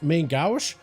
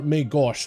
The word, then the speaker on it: Main Gauche: You either pronounce it as Main Gauche or Main Gauche, depending on your region. Whether you're going for the French or the English, we're just going to